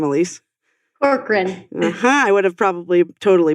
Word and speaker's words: Corcoran: Corcoran. I would have probably totally butchered that.